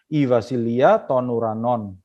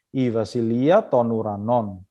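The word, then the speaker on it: βασιλεία τῶν οὐρανῶν: Nah, dalam bahasa aslinya kerajaan surga itu kalau dalam bahasa Yunaninya Ivasilia tonuranon. Cara bacanya begitu ya. Ivasilia tonuranon.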